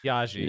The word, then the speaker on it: Biaggi: So it's Alexandra Biaggi, or is that not how you say it? Biaggi, because it's Italian.